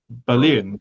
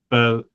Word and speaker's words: Berlin: There is a Berlin, Connecticut. But this is one where the English has a different stress than the German, doesn't it? In German, it's Berlin, isn't it? Rather than Berlin.